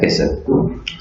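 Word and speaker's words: castle: Simply वाक बोलते हैं, L silent रहता है। इसी तरीके से कैसल में, लेकिन जनरली हम लोग कैस्टल बहुत बोलते हैं, लेकिन ये इसका सही प्रोनाउंसिएशन होता है कैसल।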